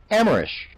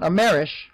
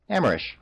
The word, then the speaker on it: Amerish: This has been 121.5 VDOO KMVS WXYZ, Radio Free Auraxis, reminding you that it's pronounced Amerish. Not Amerish, Amerish.